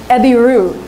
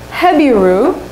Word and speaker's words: Eber: Eber, his name is actually also pronounced Ebiru. Or it can actually be pronounced Hebiru, which sounds like Hebrew, right?